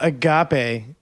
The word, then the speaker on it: agape: a religion yeah well it's a Greek word it's one of the five words for love okay the Greek language I'm not gonna join dude Agape is how you say it but um so